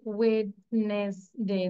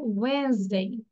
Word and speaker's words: Wednesday: Okay, so here someone shed ওয়েডনেসডে, this is wrong, you have to সে ওয়েনসডে, ওয়েনসডে, ওয়েনসডে, ডির উচ্চারণ আমরা করবো না, ওয়েনসডে।